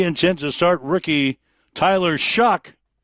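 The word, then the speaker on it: Shough: He says everybody mispronounces my my name, but he says it's really Tyler Shuck, spelled S H O U G H. They pronounce that Shuck.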